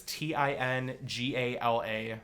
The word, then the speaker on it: tingala: So if any of youall want to look it up, it's t i n g a l a. So tin like the metal, gay like the apple, right? And it's pronounced tingala.